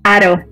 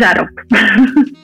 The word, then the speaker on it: Haro: No sé por qué aquí en México todo el mundo lo pronuncia Haro. No sé si es porque, no sé si imitáis un poco la fonética americana. En Estados Unidos sí que me llaman Haro, pero no, es Haro.